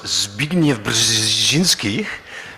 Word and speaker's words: Zbigniew Brzezinski: To throw a curveball at that, I think it was Zbigniew Brzezinski who, thank you, I pronounced that correctly, absolutely did.